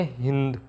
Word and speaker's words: हिंदू: और में क्या आते में स को है कह के बोलते थे, स का उच्चारण है के रूप में करते थे, इसलिए सिंधु की बजाय उनके उच्चारण में क्या बोला गया? हिंदू।